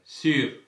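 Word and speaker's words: sûr: சரி, இந்த சொல்ல பாருங்க சீர் என்று சொல்லுவோம். சீர் என்று சொன்னால் மேலே அல்லது மீது என்றதை குறிக்கும். சரி, ஆனால் இந்த ஆக்சன் சர்க்கம்ஃப்ளெக்ஸோட பாருங்க சீர் கொஞ்சம் எழுப்பீங்கள் சீர் சீர் என்று சொன்னால் நிச்சயமாக என்றதை குறிக்கும். அதான் நீங்கள் சொல்வீங்க பியான் சீர் என்று சொல்வீங்கள் என்ன.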